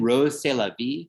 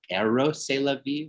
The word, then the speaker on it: Rrose Sélavy: kiss as two figures holding one another, then Rrose Sélavy who's the double of Marcel Duchamp, and whose name actually spells out Rrose Sélavy when you speak it out loud, so E-R-O-S